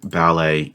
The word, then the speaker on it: ballet: that first tarot debut ballet and Rapport these are words ending with a silent T and I think we